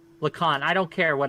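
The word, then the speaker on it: Lacan: describe it for us the users pronounced like Khan Lacon I don't care what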